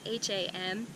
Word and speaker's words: Ham: The Sanskrit mantra for this chakra is Ham, or H-A-M, ham, but it's pronounced Ham.